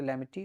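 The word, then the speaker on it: Lamitiye: लैमते या लैमिटी, हिंदी में अगर ये देखेंगे तो लैमिटी, और इंग्लिश में अगर आप इसको सही से प्रोनाउंस करेंगे तो लैमते बोलते हैं।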